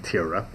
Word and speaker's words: Tyra: big models, back when everybody used to pronounce Tyra's name Tyra. So we would always know it's Tyra.